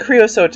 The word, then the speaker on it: creosote: I think creosote is the right pronunciation.